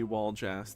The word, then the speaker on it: Waljas: We will free Waljas the baby. And yes, that is how it's pronounced.